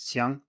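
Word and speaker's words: 相: you look at xiang, it is pronounced exactly the same as xiang, but with a different tone.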